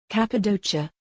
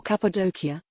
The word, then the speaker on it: Cappadocia: the Turkish spelling indicates the first C is hard the second C is officially hard as well but is often pronounced like a CH or even locally like a P Cappadocia or Cappadocia is one of the